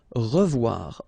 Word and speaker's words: revoir: Okay, remember to pronounce this like a revoir. O-E together is pronounced like wawa. Revoir.